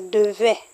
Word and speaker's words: devait: So, note the different pronunciation. In future simple, that's future tense, you say devrait with an R. Excuse, devrait with an R. Why imparfait doesn't have an R? Letter R is devait.